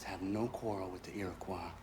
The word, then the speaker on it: Iroquois: The colonists have no quarrel with the Iroquois. Not yet. Iroquois, I'm sorry. But they I've been will. saying it wrong.